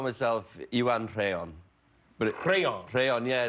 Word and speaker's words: Rheon: But Rheon. Rheon, yeah. It's a Welsh RH in the Welsh language is a devoiced, rolled R. It's almost like crayon in a way.